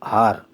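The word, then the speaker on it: hour: हार, एन हार। Honest man, an honest man, H silent हो गया ना।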